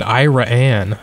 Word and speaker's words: Iraan: side of the state I think they pronounced it iraan you know I always thought it was Iran too but then then it